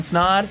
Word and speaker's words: Snaadt: My name is Snod. It rhymes with Odd and you're listening to Rhymes with Odd.